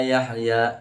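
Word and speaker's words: يحيى: Yahya, ha itu dibaca wastul halqi, di tengah tenggorokan.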